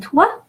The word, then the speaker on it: toi: And toi, O-I is pronounced wa, is a rule of pronunciation. O-I, wa, so toi.